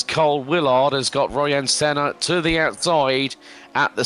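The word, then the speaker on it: Sener: Royan Senna is making a little bit of a comeback, not to be now the surname is Senna, which is not Senna, and it's spelt S-E-N-E-R, not S-E-N-N-A, for those people that know their motorsport, like myself and Jim.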